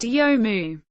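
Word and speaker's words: 読む: Mania the verb to read in Japanese is pronounced yomu Joker Joker is the acting head of the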